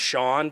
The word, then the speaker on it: Shan: Our suspect is it's pronounced Shan, but it's S-H-A-N, Kittredge.